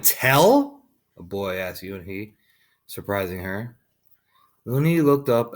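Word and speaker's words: Unhei: you new here what's your name girl asked you and he said hey you're allowed to scratch up her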